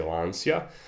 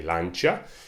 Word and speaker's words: Lancia: The Brits say Lancia. I think Italians say Lancia.